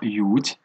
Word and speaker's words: yacht: دونك هذيك اللي مكتوبه لنا ياشت تتقرا هي كلمه ماخوذه من لونجلي وتتنطق بحال لونجلي هي يوت. دونك سي اش ما تتنطقش و ا تتنطق على شكل او.